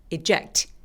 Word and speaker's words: eject: 자, 이 단어는 강세가 이음절에 오기 때문에 앞에 이 부분은 그냥 살짝 리듬만 맞춰주세요. 그래서 eject가 아니라 eject 이렇게요.